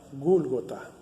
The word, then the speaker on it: gólgota: la calavera porque porque en arameo que es el idioma más antiguo que el hebreo hermano del hebreo se pronuncia gólgota calavera cabeza así que